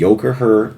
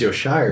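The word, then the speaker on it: Yocaher: Do you remember the Yokoher aluminum decks? Oh, Yoshire? Yokoher is what they're called. Oh, that's how they're actually pronounced? Yeah, it's Yokoher. I thought it was Yoshire. No, it's Yokoher.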